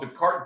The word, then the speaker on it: Descartes: the name of descartes it's spelled despartes and it's called the cart duality the card duality what he did was